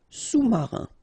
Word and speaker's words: sous-marin: Sous-marin, okay, so E-N here, un, rein, marin, alright, and remember, sous, okay, final S not pronounced, so S-O-U, sous-marin.